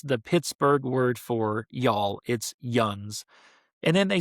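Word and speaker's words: yinz: And the word is yuns, spelled y, i n z, spelled yins, pronounced yuns, literal translation, y'all. That's the Pittsburgh word for y'all. It's yuns.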